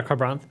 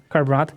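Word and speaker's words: Kharbranth: Carbon. Carbon.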